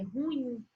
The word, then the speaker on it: ruim: laç é a correta outra palavra que terra muita pronúncia é ruim e aqui na verdade ela é oxítona se ela é oxítona é ruim e é levedo o